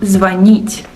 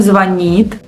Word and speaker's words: звонит: Correct stress in present tense is он звонит, они звонят. But many Russians say звонит, which is a huge mistake. So they say it with the stress on the first syllable, which is also a sign of your poor education and it's low prestigious. So if you've been saying звонит, now you know that it's звонит.